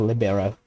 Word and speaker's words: libero: So I'm not sure how that's pronounced. I'm not a big sports fan. I know it's a sports term. I think it's an Italian word for free, I think. So that I think it's pronounced libero.